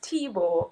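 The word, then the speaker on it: Thibaud: tell us about that my name is it's spelled t-h-i-b-a-u-d but pronounce Tebow because my grandparents are Haitian my dad was Bohemian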